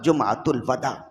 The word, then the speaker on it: جمعۃ الوداع: ہوتا ہے چھوڑ دینا، تو اصل تلفظ ہوگا جمعۃ الوداع۔ ہمارے ہاں جب جمعۃ